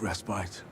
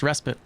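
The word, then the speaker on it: respite: The lantern's glow offers a brief restbite. Be wary on the road ahead. It's actually pronounced respit, but uh that's fine.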